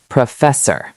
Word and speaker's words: professor: Word 3, professor. Professor. Listen carefully. Pro, fess, or.